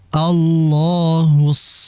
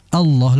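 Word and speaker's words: الله: Dan dari segi pengucapan lafaz Allah ini jangan sampai kita membacanya seperti Allah, seperti ada huruf waw, Allah.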